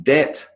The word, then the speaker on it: debt: The B, not the B, but the B, because this is not sounds, it's letters, in debt, doubt, lamb, crumb, and subtle.